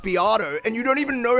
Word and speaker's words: Beato: You're talking to me about it's pronounced Beato and you don't even know how to generate a link with a bot.